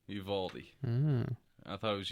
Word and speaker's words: Uvalde: So, speaking about school shootings, that shit, what is it, Uvalde? How do you pronounce it?